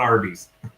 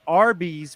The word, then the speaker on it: Arby's: And originally they wanted to call it Big Tex, but they ended up choosing Arby's, which was a phonetic pronunciation of the letters R and B, short for Raffle Brothers.